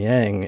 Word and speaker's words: yang: start saying yin and yang. And so there's a noticeable difference between us when we're talking about it. It's pronounced yang, Chris.